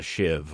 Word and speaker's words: sheave: an adjustable drive pulley a lot of people call it a shiv or you know it's kind of spelled like sheave if you have one